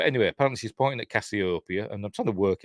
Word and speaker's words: Cassiopeia: she's pointing out now in the commentary, she says she pronounces it Cassiopeia, which is kind of how I pronounce it, but apparently you're supposed to pronounce it Cassiopeia. Don't know why it makes a difference, but because it's probably pronounced something in ancient Greek, it's probably something totally different.